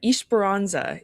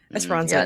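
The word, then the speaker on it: Esperança: they pick ES uh espironza is technically how you say it. Espiranza. Yeah. Out of the the 80 different pronunciations I've heard. I mean that one. Ish Barona. I think that one's definitely the normal one. I've definitely heard like Espirona and like I don't know.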